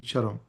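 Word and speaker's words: चरम्: So since this is pronounced as cha, this is actually acharam and charam, like just to let you know.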